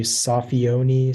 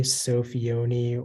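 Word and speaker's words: soffione: there any alternations uh can be sofioni sophioni or safione or sophieone um safione could you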